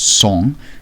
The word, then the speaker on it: sang: means to make bloody sang pronounced song being french for blood with his gods huge